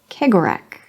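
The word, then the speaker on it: Cegorach: Kegorak. Kegorak with the hard C as in Celtic, the heritage, not the football club or the basketball team.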